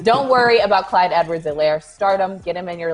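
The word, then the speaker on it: Helaire: week and he goes my production is silent just like the h in my name so he's silencing the haters don't worry about clyde edward zelaire stardom get him in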